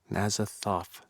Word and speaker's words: Azathoth: Azathoth. Right? The TH is pronounced. Right. not The first tough. one, yes. Right. For some reason, I was thinking it was a T now.